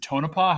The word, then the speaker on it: Tonopah: slide that compares the I guess is it Tonopah how do you pronounce that yeah that's right yeah okay I